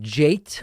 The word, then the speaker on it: Jate: Let's go next to is it pronounced Jate with a T from Tallahassee, Florida?